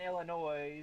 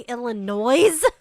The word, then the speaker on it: Illinois: South Carolina 28 in Illinois it's not many did you just say Illinois in Arizona Arizona did you just say Illinois with an s yeah and there's only